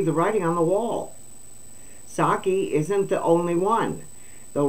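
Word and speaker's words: Psaki: Secretary turned MSNBC commentator gen psyche oh saki I'm sorry I did pronounce that wrong I had to remember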